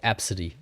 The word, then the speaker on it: ABCDE: There was a mother who named her child ABCDE E pronounced absid.